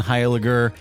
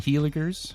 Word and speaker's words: Hiler: guys not too much I'm really glad you pronounced my name correctly did I I know it's a tough one I get a lot of Highlanders and heiligers oh although I admittedly